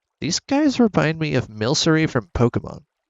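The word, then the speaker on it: Milcery: And honestly, these guys remind me of Milsery from Pokemon. Some of you might have pronounced it Milkery, which honestly I wouldn't blame you.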